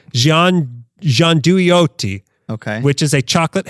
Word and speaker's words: gianduiotti: The one thing that's actually should be pronounced properly in Italian. I can't do it in a fake Italian accent. Gianduiotti.